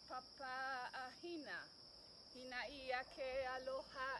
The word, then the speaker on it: aloha: So when you say, when we say aloha, we say aloha, pronouncing the H, and ha is the sacred breath.